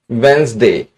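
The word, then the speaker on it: Wednesday: वेडनेसडे को बुधवार को वेडनेसडे यहां डी साइलेंट होता है।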